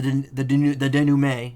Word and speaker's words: denouement: And then, the denouement, as we learned in the first trial, that's how it's pronounced. Denouement. Wesley Stickler, of panty-snatching fame, walks up. Seeing the two men, he shouts. In that instant... denouement. Oh. Whatever, I got the silent T, it's fine.